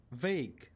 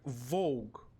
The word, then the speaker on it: vague: Freaking hell, I've read it in my mind like Vogue. Basically, it's written, if I would read Slavically, yeah, if we can say it like that, I would say like just sorry, but I would say like Vague. Literally. But it's vague.